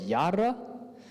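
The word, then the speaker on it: יָרָה: So the word for teach actually was yara. So you pronounce it as yara, and you pronounce the law as Torah, and you pronounce light as ora.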